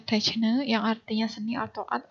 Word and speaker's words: techne: ya, dari bahasa Yunani, yaitu techne, ya, techne, dibacanya techne, yang artinya seni atau art atau keterampilan, dan logos, yang artinya kata-kata yang terorganisasi.